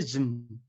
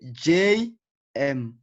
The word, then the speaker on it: JM: I say JM. Okay, so it's JM. Like the definition says here that with initialism or alphabetism, it is a group of letters, and each of those letters, it is pronounced separately.